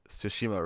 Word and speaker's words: Tsushima: That's why I bring that up, is because everyone's complaining that most people don't say Tsushima right, because they just ignore the T and just say it with an S.